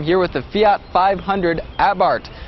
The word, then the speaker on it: Abarth: with the Fiat 500 abart it's spelled a b a r t h but the H is silent and the a is pronounced ah as in ah what happened to that